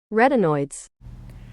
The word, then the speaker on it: retin: it this is how you say this one rtin retinoids are a class of chemical compounds related